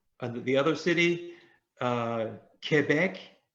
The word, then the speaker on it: Quebec: the other city uh quebec qu does is not a quoi in french it's k quebec and the island was